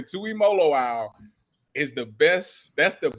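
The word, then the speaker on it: Tuimoloau: no he's not no as long as you've ever seen listen JT Tui molo owl make sure you pronounce this last day Tui molo owl is the best that's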